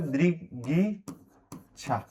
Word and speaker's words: दृगिच्छा: दृ क का ग में उच्चारण दृगिच्छा, दृगिच्छा।